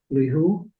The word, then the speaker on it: Lihu: We have representative from Lihu. Is that how it's pronounced?